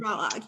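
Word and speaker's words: Balogh: I think it's Mary Balog. Oh yes, Balog.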